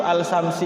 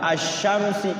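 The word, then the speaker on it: الشمس: Alsamsi itu sarungsi harusnya asyamsi karena al-nya enggak bunyi assamsiah. Ada kan sarungsi ya. Wah ini yang nulis nih enggak tahu tajwid nih. Alsamsi. Sarung alsyamsi itu salah bacanya. Asyamsi ya. Asyamsu ya. Asyamsu. Jadi ada al-nya tapi tidak berbunyi.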